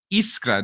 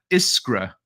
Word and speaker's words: Iskra: just so you know her name is pronounced iska not iskra like americans say i said